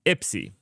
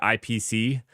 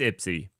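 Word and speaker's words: IPSIE: We're going to be talking initially about IPSI. That's how it's pronounced. I haven't asked anybody. I have just decided we're calling it IPSI. It was either that or IPC, which IPC is just confusing.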